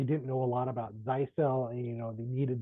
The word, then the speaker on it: Zyxel: our major product lines so to begin with zel and that is how you pronounce it zyell is um part of the